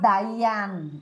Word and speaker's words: Diane: Se escribe Diane, pero se llama Dayan. O sea, se pronuncia Dayan Torres.